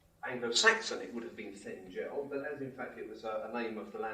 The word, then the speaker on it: Thengel: recordings of Professor Tolkien, you will find that he says Theoden, Thengil's son, which sounds to me much more acceptable. So I wrote to Christopher and said, you said it's Thengel, your father said Thengel. Do you mind if we say Thengel?